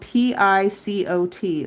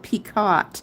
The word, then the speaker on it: picot: I'm going to call it Picot because it's spelled Picot.